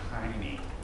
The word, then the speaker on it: Heine: Heine, okay, this is pronounced Heine, in case you're wondering.